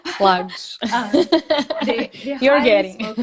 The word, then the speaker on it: Lagos: And my boyfriend, obviously, his family has traveled here before, so they highly spoke about Algarve and Lagos and Lagos. Now I said it right. Lagos.